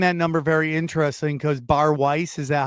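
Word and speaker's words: Bari Weiss: And I find that number very interesting because Bar Weiss, is that how you say her name? Barry Weiss. Yeah. Barry Weiss, that was the number she was offered for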